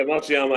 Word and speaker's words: Matsuyama: Matsuyama? Yeah, Matsuyama.